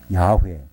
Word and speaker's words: 야훼: 물론 발음이 야회 이렇게 할 수도 있습니다. 거기 오히려 가까울 수도 있어요.